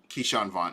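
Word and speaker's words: Ke'Shawn Vaughn: out to me is kershawn vaughn keyshawn vaughn hopefully i'm pronouncing his name right yeah you got it you you got it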